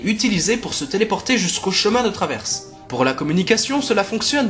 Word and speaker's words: Chemin de Traverse: tu veux aller quelque part il faut bien prononcer ta destination donc tu as compris Harry on dit Chemin de Traverse Chemin de Traverse c'est ça fout-toi de ma